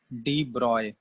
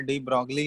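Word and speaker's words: de Broglie: डी ब्रॉय, ठीक है, लेकिन उसमें एक्चुअली इसका लिखा जाता है डी ब्रॉगली ऐसे है, बट इसका प्रोनाउंसिएशन होता है डी ब्रॉय, ठीक है, प्रोनाउंसिएशन इसका क्या है, डी ब्रॉय, इस टाइप का प्रोनाउंसिएशन है, लेकिन डी ब्रॉगली बोल देते हैं, ठीक है।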